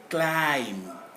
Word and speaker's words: climb: this e is inaudible climb climb but b is not even pronounceable but we stop at m climb and so circuit climbed